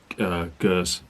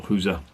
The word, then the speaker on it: Geuze: I'd recommend the old beer cell Geuze or Geuze, depending on how you want to pronounce it.